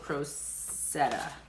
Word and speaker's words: Crocette: Google pronunciation has it Crocette, I believe.